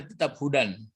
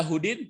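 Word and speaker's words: هُدًى: Orang yang disebutkan sifat-sifat di atas baru dibaca ini ala hudan. Ini tidak berlaku huruf apanya, walaupun ada huruf jar sampai kiamat bacanya tetap hudan. Tidak ada hudin, tidak ada hudun, ya.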